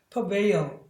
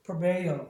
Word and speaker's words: prevail: 그러니까 얘를 저기 시어 사운드는 아니고 얘는 여기 현상을 위해서 pre라고 하는 것보다는 pro에 가깝습니다. prevail 이런 식으로 prevail 이렇게 해주면 되겠죠.